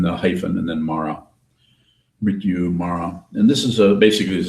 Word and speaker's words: Mrityu: Mrityu, Mara.